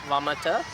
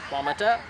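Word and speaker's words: වමට: Helen Jana so left please would be like vomiter and the cuneta the yeah you're right you're right yeah vomiter Anadarko letter and then or you can say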